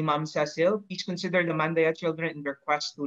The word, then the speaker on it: Mandaya: Ang tamang pronunciation, Mandaya. Okay, salamat po. Oo, pag insider, Mandaya. Pag outsider, murag Mandaya.